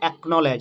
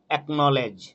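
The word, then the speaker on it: acknowledge: ঠিক তেমনি অ্যাকনলেজ, এখানে দেখো সি এবং কে রয়েছে, এখানে কিন্তু সি সাইলেন্ট, অ্যাকনলেজ।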